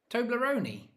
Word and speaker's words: Toblerone: You need to say the E on the end. Toblerone.